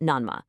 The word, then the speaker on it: Nanma: We're looking at the exact location of Shogan-ji Temple, right in the Nanma district, pronounced Nanma.